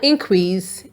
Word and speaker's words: increase: I-N-C-R-E-A-S-E. When the stress is on the I-N, it is pronounced increase. There has been an increase in accidents recently, which means there have been more accidents.